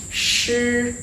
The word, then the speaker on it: shi: Shi, shi. Shi is also no expiration, so no strong air coming out like a puff.